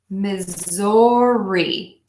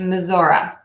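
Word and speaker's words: Missouri: Mississippi Mississippi Mississippi misses so we have a state that has several pronunciations I typically say misery misery misery misery you will hear people especially who live in the state saying missoura missoura I'm going to teach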